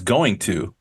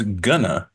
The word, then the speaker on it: going to: got got to okay native speakers rarely pronounce going to as going to we mostly pronounce it when we're talking as GNA tomorrow I'm G to